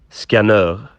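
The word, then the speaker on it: Skanör: We asked Dave, obviously, who's Swedish, to pronounce it, and he gave us this response. Skanur.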